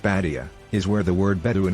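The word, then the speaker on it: بادية: The Arabic term for desert, pronounced Badia, is where the word Bedouin originates.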